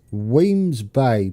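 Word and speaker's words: Wemyss Bay: some lovely mods Stobart rail how do you pronounce this I've always wondered is it Musk you had some on your video it's Weems Bay per all the stations he he does uh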